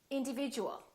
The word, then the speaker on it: individual: however it's slightly different instead of saying chew it sounds like we're saying jus for example we don't